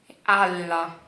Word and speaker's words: alla: Então, se você prestar atenção no L, por exemplo, ala, alla, alla. Tá vendo? Eu alonguei o L e eu dei uma pausa. Dei uma pausa para poder ser pronunciada esse outro L.